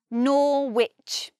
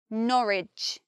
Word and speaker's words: Norwich: we hear the W, but we don't say Norwich. In Norwich, there is no W, the sound disappears. I think it's because the tongue flows much more easily if we just say Norwich and we don't add that W because it's extra tongue movements.